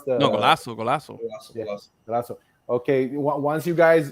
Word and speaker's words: Golaço: Is it Golaço or Golaco? How do you pronounce the? No, Golaço.